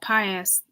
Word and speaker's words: Pius: was seeing the Holocaust and it's saying Pope Pius covered up a period in in World War